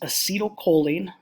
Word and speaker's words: acetylcholine: first four or five this one here is pronounced acetylcholine we'll probably just call it ach um the